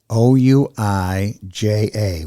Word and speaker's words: Ouija: out more about the Ouija board it's spelled a little bit differently from the way it's pronounced yeah it's with an O isn't it yes o u i j a o-u-i-j-a Ouija o-u-i-j-a the Ouija